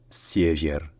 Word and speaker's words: север: disait VI sauf que bien entendu donc le r à la fin rouler et que le deuxè E est peut-être enitre plus proche d'un son qui est à mi-chemin entre le I et le E donc c'est siier siier donc ensuite l'est ça